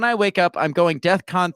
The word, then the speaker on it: DEFCON: know first of all it's not death con it's Defcon right so the fact